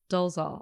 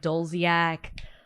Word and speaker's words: Dolezal: How do you say your last name? Dolezal. I always want to say like Dolziak, Dolezal.